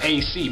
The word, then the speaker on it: A/Ce: Then he gonna say, like, his man's gonna say, like, his man's name is AC, but it's spelled Ace, and you know my name is Ace.